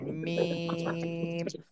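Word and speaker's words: ميم: দুই ঠোঁটের শুকনা অংশ থেকে মিম। আচ্ছা, 4 আলিফ টান মিম।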